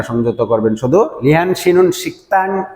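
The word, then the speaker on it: 식당: আপনাদের জ্ঞাতার্থে জানাচ্ছি, যদি এমন শব্দ পান আপনারা শিক উচ্চারণ হওয়ার কথা শিকদাং, গিয়কের পরে যদি দ্বিগুত থাকে তাহলে তার উচ্চারণ হবে সাং দ্বিগুতের মতো, শিকতাং।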